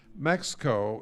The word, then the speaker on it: M5EXCO: Mexico is M5EXCO. The 5 is silent, like the H in Amherst.